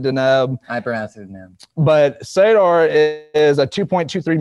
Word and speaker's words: Deneb: How do you pronounce it? I pronounce it Deneb.